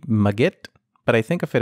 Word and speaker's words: Magit: using a plug-in called Majid the proper pronunciation may actually be maggot but I think of